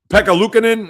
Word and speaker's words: Pekka Luukkonen: Pekka Luukkonen, I believe is pronounced his name.